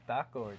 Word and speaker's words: Thakkor: And I was like, how do you say your last name? And she said, Taco, just like mine.